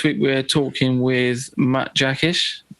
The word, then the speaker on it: Jackisch: and uh this week we're talking with Matt jaish how you doing mate all right yeah I'm